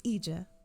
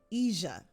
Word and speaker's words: Ija: It's spelled I-J-A, but it's pronounced with a softer J than Yvonne said.